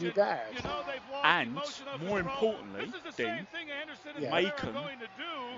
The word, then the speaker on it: Macon: And more importantly, Dean, Macon rhymes with bacon.